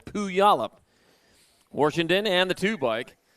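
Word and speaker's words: Puyallup: up my pile up it's spelled like it's pile up but it's not pile it's poo yolop washington and the two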